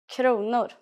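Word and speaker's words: kronor: is konor please pay attention to this first pronunciation konor let's try to say prices in Swedish start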